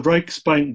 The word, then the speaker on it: Reichsbank: how do you pronounce that title? The Reichsbank Gold.